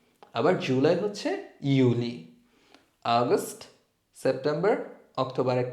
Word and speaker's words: Juli: তারপর এপ্রিল, মাই, জুন হচ্ছে ইউনি, আবার জুলাই হচ্ছে ইউলি, আগস্ট, সেপ্টেম্বর, অক্টোবরে কা, নভেম্বর, ডিসেম্বর, সেট।